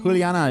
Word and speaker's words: Juliana: Juliana is right. I assume the J makes like a H sound because that's the style.